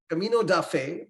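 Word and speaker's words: Caminho da Fé: is Brazil 135 uh is that the right pronunciation Camino De Fe is that right yeah yeah you got it right Camino duffe the path of Faith so it's a pilgrimage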